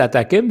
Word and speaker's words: ATACMS: Parce que là, si vous utilisez des missiles ATACMS, c'est comme ça qu'on doit le prononcer, et qu'on se fie